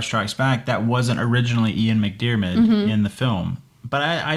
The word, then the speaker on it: McDiarmid: That's Ian McDiarmid.